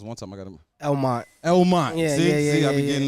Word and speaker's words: Elmont: And Kyle 45 on the flip side of that, where you coming from Elmhurst and what? I say it right? Because one time I got him. Elmont.